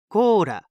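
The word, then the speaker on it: コーラ: so we'd say Cola in Japanese it's slightly different quora and a quick note on the pronunciation listen carefully and hopefully you can hear that it's not really a pure l sound Cola la la it's close to an L but more similar to a light D sound very light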